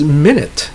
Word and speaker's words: minute: so that's bow versus bow okay next is minute everybody knows what minute is right it's the